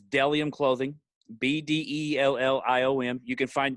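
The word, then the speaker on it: Bdelliom: it looks like it's it looks weird because it's spelled with a b but it's deliam clothing b-d-e-l-l-i-o-m you can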